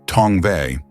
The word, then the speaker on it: Tongva: It is evident from Merriam's orthography that the endonym would be pronounced Tongva.